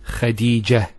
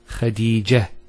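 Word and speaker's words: خديجة: I actually pronounced the ta marbota as a ha. Medina, Khadija. Now if I stop on the ta marbota, it's actually pronounced as a ha in both cases.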